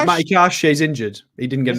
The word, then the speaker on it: Matty Cash: it's um about mat kashki where where's he he's not in the squad not in Squad said it wrong Mat Matty cash he's injured he didn't